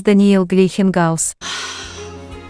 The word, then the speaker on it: Daniil Gleikhengauz: It is Daniil Gleikhengauz.